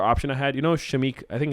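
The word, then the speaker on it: Shameik: older the other option I had you know shamik I think it's high pronounce the name shamik Moore the voice for Miles Morales and spider-verse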